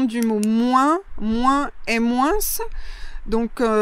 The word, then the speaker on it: moins: Ensuite, on a la prononciation du mot moins, moins et moins. Donc, plutôt dans le sud-est de la France, on prononcera le S final.